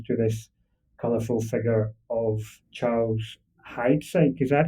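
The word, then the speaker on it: Charles Heidsieck: Thanks in part, I suppose, to this colorful figure of Charles Hides. Is that how you would pronounce that? That's right. Yeah, Charles Hides.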